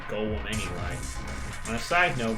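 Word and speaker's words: Gaulem: is of course gold much to his surprise this ends up being pronounced like golem anyway on a side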